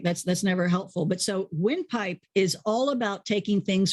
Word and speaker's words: Wynpipe: But win spelled with a Y, so windpipe.